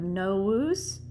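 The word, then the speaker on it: novus: modify verbs we have no woos and no wah the v is pronounced like a w so the no loose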